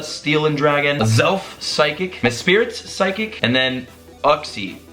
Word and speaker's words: Mesprit: But honestly, after realizing I just mispronounced Mesprit, it's not Mespirit, it's Mesprit.